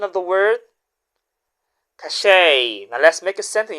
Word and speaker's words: cachet: our second word again you still Remember the pronunciation of the word cache.